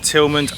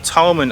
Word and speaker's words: Tilghman: It is our final day in Talbot County and we've come to the waterman's village of Tilghman Island or Tilghman Island, depending on how you want to pronounce it.